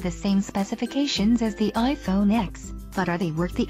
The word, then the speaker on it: iPhone X: The name of one phone is rolling off everyone's tongues, iPhone X. The X, pronounced 10, is Apple's all-new design for the iPhone, with an edge-to-edge screen, fancy facial recognition features, and an eye-widening price tag.